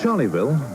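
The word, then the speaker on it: Charleville: never knew existed charlieville the Australian pronunciation is steeped in aviation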